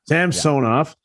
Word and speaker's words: Samsonov: both matt murray and elia sampson off or samsonov how do you pronounce it it's sam sonov yeah sam sonoff um i don't see it being any better